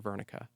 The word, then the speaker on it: Wernicke: So and it's named after a doctor called Dr. Vernika. Okay. It's spelled Wernicke.